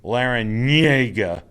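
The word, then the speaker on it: Larrañaga: against miami and jim laranyega that's how you say his name lara nyega you gotta do with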